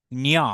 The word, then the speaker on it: ঞ: নিয় নিয় নিয় ন উচ্চারণ হবে না, অর্থাৎ ন নাসাল নেসাল সাউন্ড হবে না, এটা মূর্ধতে উচ্চারিত হয়।